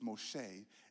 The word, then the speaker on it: Moshe: He says Moshe is the proper way to pronounce what you Americans call Moses.